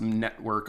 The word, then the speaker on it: NetVRK: I believe it's actually pronounced Network, although it's NetVRK. So VR because they're building a VR-based metaverse.